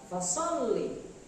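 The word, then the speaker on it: فصلّ: Bagaimana cara membacanya? Yaitu dengan cara ditekan, hanya ditekan, tidak ditahan. Fasholli, fasholli, tidak boleh fasholli, tapi fasholli. Ya, sekali lagi lam bertasdid, maka cara membacanya ditekan.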